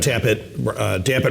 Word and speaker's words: Dapit: So kind of Dapit rhymes with Tap It.